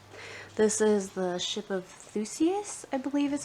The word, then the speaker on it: Theseus: this book here this is the ship of theseus i believe is how you say that it's